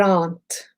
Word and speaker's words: aren't: Most of my learners, my lovely students, say they aren't. They say it as 2 syllables. There aren't. No, there aren't.